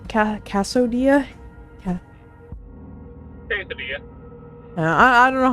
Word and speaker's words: quesadilla: How do you pronounce that? Cassodia? Cassodia? Quesadilla.